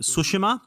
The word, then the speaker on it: Tsushima: of all i understand in the game they all all the characters call it sushima and that's the the proper pronunciation and i was like